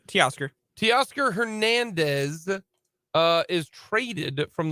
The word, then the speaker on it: Teoscar: So just, Oscar, but say T in front of it. Teoscar.